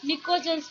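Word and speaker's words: Pnictogens: ठीक है, और 15 ग्रुप एलिमेंट्स को हम निकोजेंस बोलते हैं। 15 ग्रुप एलिमेंट्स को हम क्या बोलते हैं? निकोजेंस। पी इसमें साइलेंट होती है, NiCO ठीक है, तो 15th ग्रुप एलिमेंट्स को हम क्या बोलेंगे?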